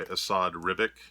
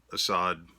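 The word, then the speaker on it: Esad Ribić: This is the variant cover by Asad Ribic, and yes, that is how you say it. Asad, just beautiful, beautiful cover.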